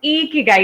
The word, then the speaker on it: ikigai: to say this that it is pronounced a key guy it has to make you smile otherwise you're not saying it right that's something Tim tamashiro